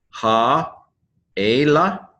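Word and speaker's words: הָאֵלֶּה: Ha-ela. Ha-ela. Again, this particular word, these, tends to have an accent on the first syllable.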